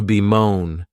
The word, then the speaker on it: bemoan: The next verb is to be moan. And this verb has two syllables and the stress is on that second syllable.